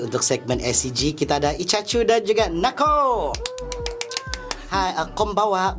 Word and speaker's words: Iccachu: Kalau Icha macam yang di kan, macam yang ada jual-jual ikan kan? Icha. Kan gitu. Tapi the correct pronounce dia adalah Ichachu.